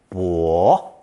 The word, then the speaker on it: 跛: It's pronounced third tone, 跛, 跛, and means to be lame or crippled.